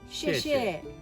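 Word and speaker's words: 谢谢: 谢谢，谢谢。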